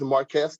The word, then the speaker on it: Marquez: well my name is Marquez uh it's spelled a little weird but it's it's Marcus I'm the organizing director